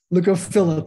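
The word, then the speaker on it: leucophylla: Leucophila, Leucophila, how do you pronounce that one? Okay, I guess I'll find out later. However you want to. Leucophila? Leucophila, thank you.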